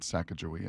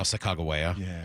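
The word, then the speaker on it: Sacagawea: I don't think they call it Sakajia. It's now Sakagawea.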